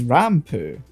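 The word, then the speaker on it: ランプ: because they're gonna go on their phonetic pronunciation, Yeah. which is rampu, and that's not.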